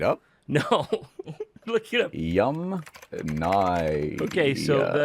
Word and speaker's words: Yamnaya: Yamnaya. Okay, so the Yamnaya people, not Yamnya.